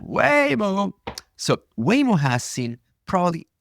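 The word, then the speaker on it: Waymo: weo has probably seen it's by the way it's weoo I now forgot how to pronounce it wayo wayo wayo way way way is in way yeah way more so wayo has seen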